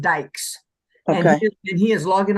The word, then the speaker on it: Dykes: how it's spelled D um dyc yes but pronounced Dykes and and he is logging on right now